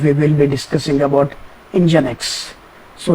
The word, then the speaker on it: Nginx: will be discussing about engine X so engine X is a web server okay uh it it is pronounced as engine X and it's a it's